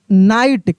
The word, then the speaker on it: know: देखिए, के एन आई जी एस टी, यहाँ के साइलेंट हो जाएगा, इसको भी हम लोग पढ़ेंगे नाइट।